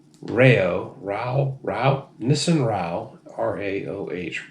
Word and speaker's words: Raoh: Rao Rao Nissan Rao r-a-o-h Rao I think is how that's pronounced king of ramen this